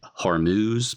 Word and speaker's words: Hormuz: So I'm going to say armuse or armuse because I think that might be the way it's pronounced in Persian. I think it's also called Farsy. That's the language of the of the Persian uh people of Iran. As an American, I you could say Hormuz if I'm saying that wrong.